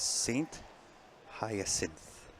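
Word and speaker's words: Saint-Hyacinthe: The English pronunciation is Saint Hyacinth.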